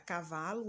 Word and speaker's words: cavalo: palavra ele é a penúltima portanto a palavra cavalo é paroxítona é mais um exemplo caneta onde